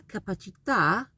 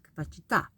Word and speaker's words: capacità: So when that happens, you kind of put emphasis. It's a kind of short vowel sound. Capacità, capacità, la capacità. And in the plural form, sometimes, for example, capacità would be le capacità.